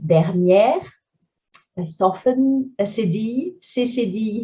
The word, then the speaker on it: dernière: Accent grave, open again, dernière.